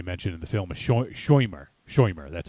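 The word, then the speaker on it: Shomer: So I wasn't familiar with the concept of as they mentioned in the film, a shoimer.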